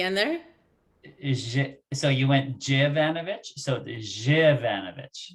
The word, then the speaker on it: Zivanovic: So you went Jivanovic? So the Jivanovic. Zivanovic. Okay, thank you. Great. It's important, people, that we pronounce people's last names.